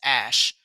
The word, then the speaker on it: Ash: basically tossed nikki ash which is how they pronounce it i hate it it's ash tossed nicki and literally